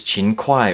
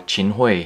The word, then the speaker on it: Qin Hui: All right, so here is Chin Kai or Chin Hoy, depending on how you want to pronounce it.